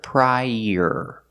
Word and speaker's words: prior: Also this word is pronounced prior, using the long I, pry, and like burger. Link the sounds together, prior. Use the y sound like in yellow to link the two vowels.